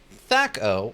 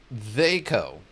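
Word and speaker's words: THAC0: It is variously pronounced thato or theo.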